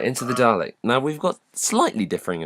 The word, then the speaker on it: Dalek: Oh God, did I pronounce it with an R? Dalek.